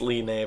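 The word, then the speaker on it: Linne: we'll talk about later that her name is pronounced Li Mei by the way not Lin like I've been calling her but anyway you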